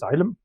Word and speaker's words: Elm: It's just pronounced as Ilm.